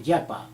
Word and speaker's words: japa: We call japa, J-A-P-A, japa, or in Hindi we call jap, or we also pronounce as japa.